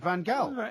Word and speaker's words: Van Gaal: But when I heard Ruud Gullit saying Van Gaal, he actually said Van Gaal. It is Louis Van Gaal.